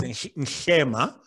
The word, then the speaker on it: Nhlema: It's Nhlema. So you have to do a thing with your tongue. So most people are not able to say it. So I just say Shema is fine.